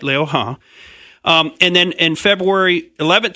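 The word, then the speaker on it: 刘鹤: that you say what I would say is Liu He, but it's Liu He is the correct pronunciation. I did try to look that up ahead of time. I hope I'm saying it exactly right, Liu He.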